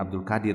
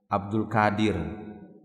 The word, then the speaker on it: Abdul Qadir: Makanya jangan Abdul Qadir, ya, Abdul Qadir. Ada kadang ejaan Indonesia tuh kadang keliru, ya. Abdul Qadir. Qadir itu kotor. Padahal sebenarnya yang dia inginkan adalah Abdul Qadir, ya. Abdul Qadir atau Abdul Qadir, Abdul Qadir, ini nama Allah.